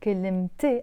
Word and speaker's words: كلمتي: We don't pronounce that ت مربوطة. But the moment I add the a, my, كلمتي, I'm not saying كلمة anymore. I have to pronounce the ت مربوطة.